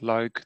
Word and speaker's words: Luik: It's a small leap from Liège, or as we pronounce it, Luik, to the Netherlands.